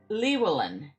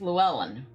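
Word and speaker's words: Llewellyn: I was just told that that name is pronounced Luwellyn and it's Welsh.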